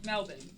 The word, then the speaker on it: Melbourne: Melbourne.